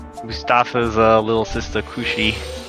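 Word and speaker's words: Cruxie: Mustafa's little sister Kushi. Kushi. The translation is a little bit weird. I'll just say that. It's spelled C-R-U-X-I-E.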